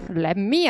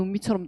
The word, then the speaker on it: let me: 렛미 아니고 렛미는 이제 혓바닥을 혓바닥을 전체적으로 이제 입천장에 붙이시라고 했으니까 렛미 아니고 공간 없어 미 이렇게 한단 말이야. 이게 평평할수록 발음이 원어민에 가까워요. 그러니까 르 발음인데 혓바닥에 다 혀가 전체적으로 붙어요. 그럼 선생님이 발음을 어떻게 할 수 있어요. 그냥 나를 이겨내시면 돼요. 그래서 해보면 은미 된다고 했어요. 렛미가 아니라 사람 이름 은미처럼 돼요.